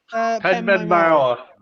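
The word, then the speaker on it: Penmaenmawr: I cannot pronounce the guide bridge. Penman Oh, Penman Mauer.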